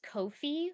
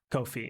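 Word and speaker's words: Ko-fi: it sure um so it's it's it's actually pronounced kofi like i said yeah kofi um yeah so um it's it's pretty great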